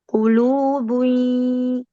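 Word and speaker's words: قلوب: Qulubun ulu kan qulubun bukan qulubun yauma idin wajifah yauma idin gitu ya.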